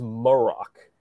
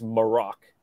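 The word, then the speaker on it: Marrok: that again they pronounced first of all it's morac which bothers the hell out me I cannot get that pronunciation down but every time they say his name it's morac so I have to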